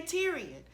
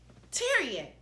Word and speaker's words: Tyrion: But I used to tell people, if you can say Presbyterian, you can say Tyrion. No, it's not spelled the same way, but if you can say Presbyterian, you can say Tyrion, okay?